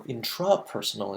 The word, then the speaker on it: intrapersonal: That's your interpersonal intelligence, and then your intrapersonal intelligence. Notice the pronunciation difference, intra instead of inter.